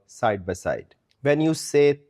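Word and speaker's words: ثے: It is called say like the English word say as in to say something.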